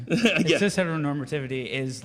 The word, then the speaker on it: heteronormativity: It is, tell me if I'm pronouncing this wrong, Heteronormativity. Did I say Heteronormativity?